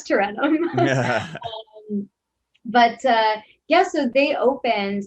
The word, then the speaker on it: Tarentum: which when I first saw the name, I definitely said it wrong. And my sister was like, you've been away a while. That's Tarentum.